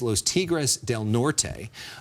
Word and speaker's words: Los Tigres del Norte: You know, you've played the game Personal Issues with us before, and you told us that your favorite band is Los Tigres del Norte.